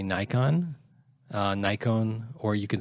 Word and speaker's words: Nikon: My favorite, though, is that he says Nikon now. Yeah. So the Japanese, they officially say that you can say Nikon, or you can say Nikon. And technically, the Japanese syllables should be pronounced Nikon.